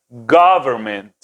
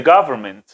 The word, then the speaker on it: government: más abierta americanizada sería government gravemente fíjense como el primer como le dije la pronunciación más fuerte está en la primera sílaba y el resto ya